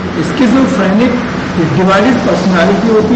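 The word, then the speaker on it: schizophrenic: स्किज़ो इसकी प्रोनाउंसिएशन है SKIZ, स्किज़ोफ्रेनिक, स्किज़ोफ्रेनिक।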